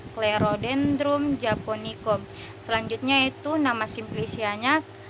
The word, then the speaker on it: Clerodendrum: Di sini ada dua huruf C yang bertemu dengan huruf mati dan dibaca dengan huruf K, Clerodendrum japonicum.